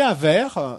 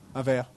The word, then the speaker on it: verre: Et il avait un verre de camomille. What's this? Un verre. Who? Un verre. Oh, I can't say you French words. Je ne peux pas dire ces mots français. Un verre.